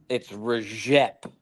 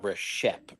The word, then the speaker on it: Rejep: It's Rejep, not Reshep, Rejep.